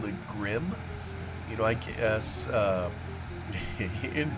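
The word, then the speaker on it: Grimme: that's probably how we would say it g r i m m e but I've since looked at a couple uh YouTube videos and I think this other gentleman was right that I've been mispronouncing it so sorry about that I think it's supposed to be grimy or or uh I think I've heard one of them call a Grimmy even you know maybe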